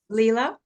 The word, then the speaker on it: Leela: evening good evening is is this the correct pronunciation of your name Leela yes Leela okay Leela nice it's it means play play